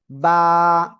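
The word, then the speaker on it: ب: এই যে দুই ঠোঁট, দুই ঠোঁটের ভিতরের অংশ মিলিত হয়ে এক আলিফটা নিয়ে উচ্চারণ করে পড়তে হয়। বা, বা, এই যে এরকম, বা, এক আলিফ টেনে পড়তে হবে।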